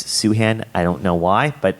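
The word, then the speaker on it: Sufjan: ufj an Stevens um it's not pronounced thin Stevens it's suhan I don't know why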